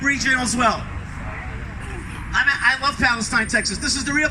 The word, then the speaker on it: Palestine: They pronounce it Palestine.